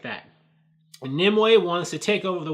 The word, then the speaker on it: Nimue: made related to Hellboy, I think I've called her Nimue, so I've been saying her name wrong this whole time. In the movie, they pronounce it as Nimue, or Nimue, or whatever, so that's how you're supposed to say it.